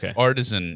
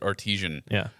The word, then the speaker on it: artisan: Artisan is the correct way of saying it. I used to pronounce it artisian.